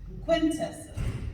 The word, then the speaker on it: Quintus: website is one but my name is spelled just the way it sounds and it sounds just the way it spelled quintus q u i n